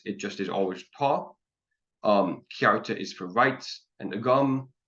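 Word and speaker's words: cearta: So ta and then kyarta, the CE is one vowel sound. The E just means pronounce the C as if there's a Y after it. And then the sound you make there is ah.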